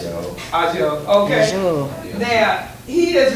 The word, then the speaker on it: Ajo: Ajo, how you pronounce it? Ajo, okay.